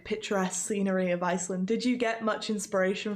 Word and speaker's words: Iceland: Я извиняюсь, конечно, я вроде как английский язык знаю вершками, да, но, по-моему, Iceland как Island, то есть S не читается в этом слое, Island, говоря.